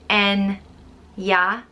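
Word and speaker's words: Eithne: and a lot of blahines next up is anya which can either mean kernel of a nut or seed or fiery it's usually pronounced en ya enya but it can also be pronounced et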